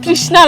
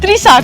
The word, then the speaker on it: ত্রিশা: এই এক মিনিট আমার নাম তৃষ্ণা আমার নাম ত্রিশা ঠিক করে উচ্চারণ করো মানে তৃষাই বলতে